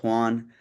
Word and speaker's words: Juan: Juan, is that how you pronounce it? Okay. Hey guys, my name's Juan.